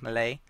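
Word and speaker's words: Melee: I've mentioned let's start out with uh discussing Mal or Malay I should pronounce it as uh so they mainly feature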